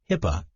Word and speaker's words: HIPAA: The Health Insurance Portability and Accountability Act of 1996, commonly known as HIPAA, pronounced HIPAA, was passed by Congress